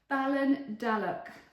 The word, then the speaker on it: Ballindalloch: Balon Dalock is how you say it.